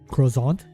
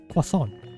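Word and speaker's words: croissant: time I was so used to calling it cant because you know parents don't really uh my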